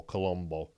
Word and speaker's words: Colombo: this guy joe colombo now you say colombo uh people think you know just one more question but that's spelt c-o-l-u-m-b-o this is spelled c-o-l-o-m-o colombo more close to columbus christopher columbus it's an italian name obviously and joe colombo